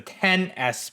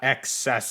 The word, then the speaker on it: XS Max: Oh crap, I just realized this phone isn't called the XS Max, it's the 10S Max, the 10S, not XS.